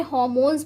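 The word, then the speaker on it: hormones: एंड प्यारे बच्चों, आज तक आपने इसे हार्मोन्स पढ़ा होगा, लेकिन यहाँ पे क्या है, आर साइलेंट होता है, इसे हार्मोन्स पढ़ा जाता है।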